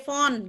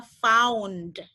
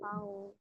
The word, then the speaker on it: found: Jadi kadang-kadang kan suka dibaca sebagai ini tuh dibacanya sebagai font gitu kan? O kan? Sebenarnya itu dia Iya. diftong AU. Jadi harus dibacanya found gitu. Found. Found karena dia ada diftong AU-nya.